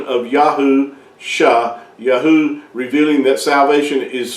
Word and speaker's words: Yahusha: So when you see that when you put those two together, you come with the pronunciation of Yahusha, Yahu, revealing that salvation is found in Yahuwah, and salvation is his function, is what he has described himself as.